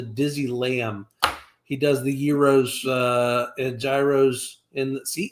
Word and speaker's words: gyro: know I get that the right way to say it is Euro but I'm just I say gyro and I'm not going to change I have nothing to